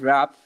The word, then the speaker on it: rap: love hip hop and rap. So through this teaching, they will get to know about what actually rap is, because most of the people pronounce it rape.